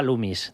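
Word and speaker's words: Loomis: Hay una compañía por ahí muy grande que se llama Lumis. ¿Tú cuál crees que podría ser? Pues era Lumis. Lumis con dos oes. Bueno, vale, vale, pero pronunciado es lumis.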